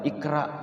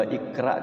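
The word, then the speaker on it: اقرأ: maka ia bacanya dengan Qalqalah rnya D tafhimkan ya ditebalkan dengan Iqra ya kalau Ikra kan jadinya ee tarkik ya gitu jadi harus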